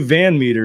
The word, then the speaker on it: VanMeter: just that um Van Meter is that how you pronounce it yep just like it's spelled is the president the